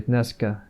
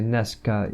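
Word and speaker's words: днеска: Dnes, people often say dneska, today, which is literally to pronounce it more easily. You can say neska even, like Nescafe, like it doesn't translate it, but you typically say Neska is today.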